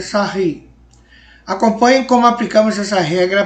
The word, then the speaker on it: Sarrus: Aqui no Brasil a gente fala Sarrus, por causa da escrita, mas a pronúncia é Sarri.